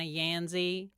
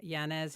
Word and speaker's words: Yanez: They say Yanzi. First thing. So I got to raise my hand and go, yeah, you mean Yanez? Yes, it's actually exactly how it's spelled.